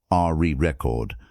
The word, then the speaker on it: record: For example, record as a noun is stressed on the first syllable, re record. But record as a verb is stressed on the second syllable, record.